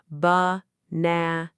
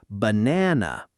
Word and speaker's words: banana: The problem with that pronunciation is that it puts equal stress on every syllable. But English rhythm depends on contrast, strong and weak, loud and soft. So the correct natural way is banana with the middle syllable strong and the first and last syllables relaxed into that same soft uh sound.